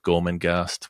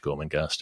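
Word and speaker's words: Gormenghast: it but um just it's phonetic with with a GH in the in the second syllable the second G anyway you'll work it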